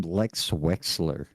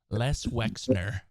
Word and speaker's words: Les Wexner: I was gonna say that's kind of a cool name, Lex Wexler. No, I said it wrong. Les Wexler. That's Wexner. still Les Wexner.